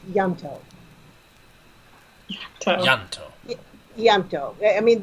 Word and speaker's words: Ianto: I mean, the I is barely there. It's Welsh. Yanto. Yanto. It's so hard to say. Like it's almost Yanto. As if it was spelled with a Y.